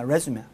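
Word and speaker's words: résumé: 이력서를 할 때는 resume야, resume. 강세가 앞에 있고, 발음이 틀려요.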